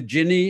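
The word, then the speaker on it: Gini: i'm pronouncing this correctly it's the ginny index or is it the guinea index the g the genie the genie called the genie index yeah that's right um so genie was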